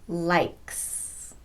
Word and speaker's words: likes: And here's another example, likes. K is a voiceless consonant, k. So the S will be pronounced s, likes.